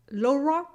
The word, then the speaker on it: Laura: the French in English, except for the R sound, which we can't do with our mouths. Yes, you can't pronounce the R. So imagine, you can't pronounce my name, right? Each time you're saying Laura, Laura, Ra, Laura. No, I forced it right there, but it's Laura.